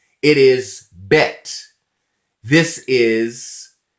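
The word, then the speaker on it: בית: to fight letters but when they have a dot in the middle this is pronounced as a hard sound it is bet this is gimel gimel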